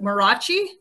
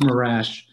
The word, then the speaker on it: Marash: And the next gentleman, I might butcher this name, but Marachi. That's a pretty good butchering. That's not bad. Okay. It's actually pronounced Marash.